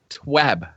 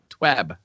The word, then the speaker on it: TWAB: Josh G says it's this week at Bungie, so shouldn't the proper pronunciation be a short sound, such as in cat? TWAB. TWAB.